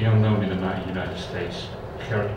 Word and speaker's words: Gerrit: I would have loved to talk about a Dutch writer who's completely unknown in the United States, Gerrit Kroll.